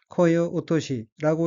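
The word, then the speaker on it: 声落とし: 첫째 줄 첫 번째 어깨는 한자가 소리성 떨어질 락자가 들어 있고 일본으로는 코어 오토시라고 읽으며 코어 오토시 는 목소리를 낮추다.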